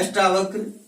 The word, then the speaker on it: अष्टावक्र: अष्ट धन वक्र, यहाँ अष्ट में ए का उच्चारण, यानी अष्ट का उच्चारण किस रूप में होता है, अष्टा, दीर्घ आ के रूप में होता है।